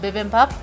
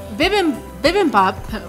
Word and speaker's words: bibimbap: So the next dish we have is called bibimbap.